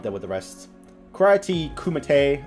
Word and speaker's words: kumite: with the rest karate kumatay or kumite i i don't know how to pronounce it i kimate kumite sounds right but um don't don't